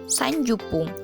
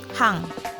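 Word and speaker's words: 三十分: 20 menit nijupung, 30 menit yaitu sanjupung, atau kita bisa ucapkan hang. Pengecualian ya, untuk 30 menit itu ada 2 pengucapan, bisa sanjupung atau hang.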